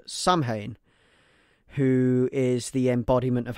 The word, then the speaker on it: Samhain: Now, obviously, we know that the word, although it is spelt like Samhain, is not actually Samhain. It is Samhain. Samhain is the true way to say the word, and it comes from